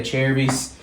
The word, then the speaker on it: Acerbis: And then also she picked out these, we say Acerbis. I know everybody pronounces it different, but she got some nice hand guards, red and white, that'll be going on there.